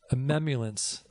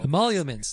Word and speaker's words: emoluments: Emoluments. Emoluments.